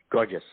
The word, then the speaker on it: Gorgias: Gorgias.